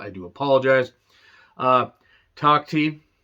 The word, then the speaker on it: Takhti: Takhti, I believe that's how it's said. I wanted to say Tahiti or Takiti, but that's not right.